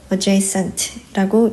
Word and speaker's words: adjacent: aja j쓸 수 있고 adjent라고 읽어요. 어는 약하게 발음하고 Jent 세게 발음하면 돼요.